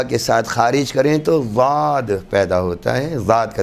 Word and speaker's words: ضاد: ادا کرنا بھی صحیح۔ یہ ضاد کبھی بھی باریک دال یا پر دال کے مانند نہیں ہے، بلکہ اس کے تلفظ